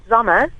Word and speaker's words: Sommer: It is Sommer, is it? It's pronounced Sommer. It's the German for summer.